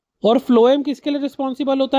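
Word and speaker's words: phloem: रख सकते हो कि फ्लोएम को एफ से पढ़ते हैं फ से पढ़ते हैं भले स्पेलिंग पी से चालू हो पर पढ़ते क्या है फ्लोएम तो फ्लोएम और फूड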